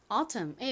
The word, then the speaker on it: autumn: 그리고 M의 뒤에 이렇게 N이 온 경우에는 N이 묵음으로 소리가 나지 않는다고 말씀드렸죠. 그래서 autumn이라고 발음합니다. 미국 사람들은 이 T를 리을처럼 발음을 합니다. 그래서 미국식 원어 발음으로는 autumn 이렇게 발음해요.